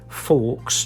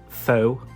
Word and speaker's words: faux: leather is it's called I I want to say like Forks just cuz that's how it's spelled I think he pronounce it foe is it like a French word is it I don't